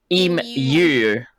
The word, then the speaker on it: emu: Emu. Is that do you not pronounce it emu? Emu. Like mew.